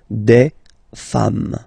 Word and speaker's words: femmes: singular form, and then you just add this S at the end, and as we said, you don't pronounce it, so you get des femmes, okay?